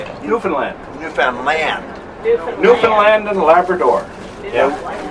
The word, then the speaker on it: Newfoundland: You don't say, I'm going to Newfoundland. How do you say it? Newfoundland. How do you say it? Newfoundland.